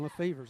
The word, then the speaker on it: Lefevre's: That's the pronunciation, Lefevre's.